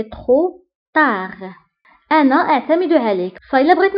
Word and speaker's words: trop tard: بالنسبة لترو كنكتبوها بالتي في آخر الكلمة ميم سي ما كنطقوهاش ولكن كنكتبوها، وايضا تا كنكتبوها بالدي في اخر الكلمه ميم سي ما كنطقوهاش دونك كنقولوا سي ترو تار انا اعتمد عليك فالا